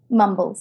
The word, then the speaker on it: Mumbles: Now, is this pronounced Mumbles? Mumbles, yes.